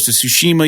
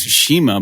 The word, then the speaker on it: Tsushima: I think it's Shima, but I don't know. Yeah, it's weird. It sounds like when you play the game, though, the Japanese people, I think, pronounce it Tsushima, which sounds a little bit more in keeping with the language, but I don't.